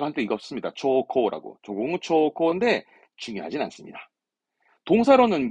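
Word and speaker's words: 朝貢: 초코라고.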